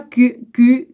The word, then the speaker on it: Kuhn: Le philosophe des sciences Thomas Kuhn, ouais, bah je le dis comme ça parce que pour le... Hein, ou alors ça se prononce aussi Kuhn, hein, mais le H est muet, a inventé le terme